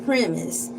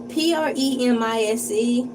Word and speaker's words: premise: When I look at the word premise, I involuntarily want to say it really slowly with a slow southern draw. Premise like surmise. premise cuz it just seemed like it's supposed to be said like that.